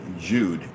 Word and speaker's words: Jude: pronunciation the Germans Judah Jude is the German equivalent of the English Jew the J in the German Jude is pronounced exactly like the English Y and yes Youth and